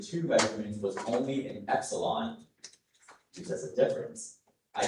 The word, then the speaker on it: epsilon: Epsilon is the main pronunciation.